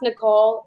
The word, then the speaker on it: Nickol: By the way, my name, it's pronounced Nicole.